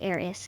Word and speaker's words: Eris: Pronounced Eris, just like Iris, but with a little AI magic sprinkled in.